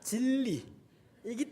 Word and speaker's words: 진리: 왜냐 질리기 때문에 아 발음을 잘 해야 될 질려서 가 아니라 질리기 때문에 가 아니라 진리이기 때문에 아찔 이기 때문에 가 아니라